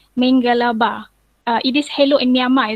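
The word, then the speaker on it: မင်္ဂလာပါ: to start by saying Mengalaba. It is hello in Myanmar, is it? Mengalaba. Okay. So that is correct, Ju. Is that correct? The way that I pronounce hello in Myanmar? Totally Mengalaba. correct. Mengalaba.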